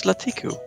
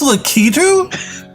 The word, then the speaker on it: Lakitu: ketu it's like it's lakitu i have been wrong for 37 years i always taught him latiku i saw i i just reversed the last like two syllables it's lakitu oh my [ __